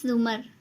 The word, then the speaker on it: زمر: بھی ملاقات ہوئی تھی۔ اس نے البتہ زمر کا نام غلط تلفظ سے بولا تھا، رے کے اوپر زبر کے ساتھ اف، اٹس زمر، زو کے اوپر پیش ہے، اس نے توڑ کر بتایا۔ وہ خاتون اچھا کہہ